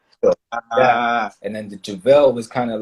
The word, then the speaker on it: Juvell: So how do you pronounce it? The way you said it, Jake Juvell. Okay, Jake Juvell. Okay. Look, y'all heard her. Don't mess up the Juvell.